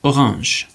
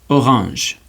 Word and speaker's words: orange: If it's at the end of a word, it's silent. For example, the word orange. Repeat after me. Orange. Or And you notice at the end we don't pronounce the E.